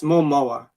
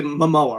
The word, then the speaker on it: Momoa: messed up things but is it momo yeah it's momoa but like when people say it fast people say mama right yeah jason lamoah